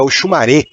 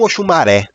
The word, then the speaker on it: Oxumaré: não sei muita coisa a pronúncia correta é oxumaré e não oxumaré quem entende do idioma yorubá fala que o sol fechado do e no final representa o gênero masculino por essa razão as